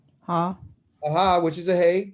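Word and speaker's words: ה: That hey is the name of the letter, but how do you say it? You say ha. But you just use the letter hey. So hey is the actual name of the letter, but the sound is ha.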